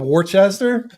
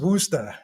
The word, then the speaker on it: Worcester: It hurts my brain because it's spelled Worcester, but it's pronounced Worcester. Worcester.